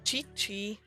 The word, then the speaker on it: Gigi: Nein, also Gigi wird als englisches G ausgesprochen. Gigi.